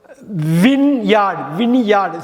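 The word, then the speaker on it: vineyard: வின்யார்டு. ஸோ பாருங்கள், வைன்னு படிக்கக்கூடாது, வினின்னு படிக்கணும். VINE. வினியார்டுன்னு படிக்கணும், வின்யார்டு. ஒயின் படிக்கக்கூடாது, வின்யார்ட்.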